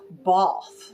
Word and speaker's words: Bath: bathtub but in um Jean Austin films they pronounce it both so I'm going to say both because that